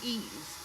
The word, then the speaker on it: Ys: on the MSX, including Ease. I've got a few Ease games on here. You folks are familiar with the E series. I know for a fact it's pronounced ease.